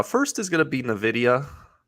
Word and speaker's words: Nvidia: is going to be Nvidia Nvidia as John would say Nvidia that's how you say it right have I been saying it wrong the whole time no you're saying it right um and what's the